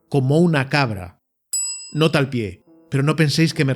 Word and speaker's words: pi: nombrar un pastel, utilizarían el número pi, que también se pronuncia pie en inglés, con sus 5 primeros decimales, es decir, 3, 14, 15, 9.